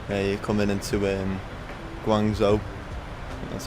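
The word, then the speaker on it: Guangzhou: Yeah, you're coming into um Guangzo. That's how you pronounce it.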